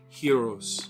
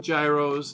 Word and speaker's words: gyros: the butcher um today i'm making greek style heroes not gyros not gyros it's pronounced hero the g uh y is sort